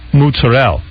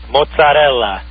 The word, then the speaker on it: mozzarella: Like it's not mutzerel. No. What is the word? Well, how do you say it? Well, you know, in in you mean in real Italian. Yeah. Mozzarella. Mozzarella. No, but okay.